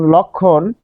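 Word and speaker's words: লক্ষ্মণ: যোগ স যোগ ম এই যে তিনটা বর্ণ এ যুক্ত বর্ণের সাথে গিয়ে মফলা বসে পড়ছে তার মানে সে উচ্চারণ হবে না তাহলে ললো লক্ষণ কারণ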